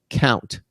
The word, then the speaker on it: Kount: In the second hour, we're going to have a company called Count, and that's spelled Kount. We're going to have the company's chief operations Officer Rich Stupp.